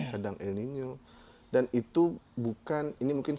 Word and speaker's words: El Niño: Ada masanya kalau N-nya itu sebenarnya dibacanya La Niña ya, El Niño. Karena ada N-nya itu ada tilde-nya. Ada curug di atasnya. El Niño.